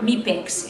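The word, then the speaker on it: MIPEX: very very good scores m meex is is the right way to pronounce it we get a very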